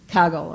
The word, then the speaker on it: Kaggle: pronounce it wrong, Anthony, is it Kaggle or Kaggle? Kaggle, okay.